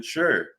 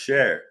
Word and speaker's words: Sher: maternal grandparents Reuben and Evelyn Sher pronounced share my bad Ruben Sher and Evelyn